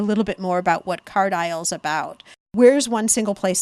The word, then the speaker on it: Card Isle: enjoyed the idea of Card Isle, but aisle is spelled ISLE.